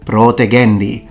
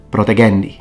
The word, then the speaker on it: protegendi: we can know that a word such as protegendi is supposed to have a long o protegendi rather than protagendi phonemic vowel length is